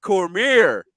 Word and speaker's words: Cormier: Tonight, we have Cormier. Did I pronounce it right?